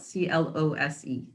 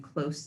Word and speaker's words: close: That's an adjective when you're describing something as being close to you. You pronounce it with an S sound at the end.